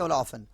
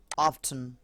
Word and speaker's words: often: আচ্ছা, এটা উচ্চারণ দুটো সঠিক, আমরা বলি অফটেন, কেউ বলে অফেন, both A correct. So অফেন, অফটেন, কিন্তু অফটেন না, OF, oft, EN, ten, often, not like this.